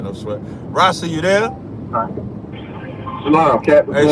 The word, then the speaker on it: Ras I: You pronounced my name wrong, too, man. It's Ras I.